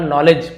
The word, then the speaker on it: नॉलेज: तो यहां पे देखिए के साइलेंस साइलेंट रहता है। डी साइलेंट रहता है। सैल लेटर है ये। केवल नॉलेज पढ़ा जाएगा।